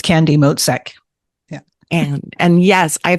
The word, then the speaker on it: Motzek: going say I I might say your last name wrong so can you go go ahead and introduce yourself yeah it's candy moek yeah and and yes I think I found